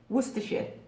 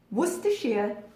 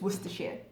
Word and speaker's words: Worcestershire: To everybody, everyone who's not from the UK, every American I have ever heard butcher this pronunciation. Worcestershire. Mind blown. Worcestershire is how you pronounce that.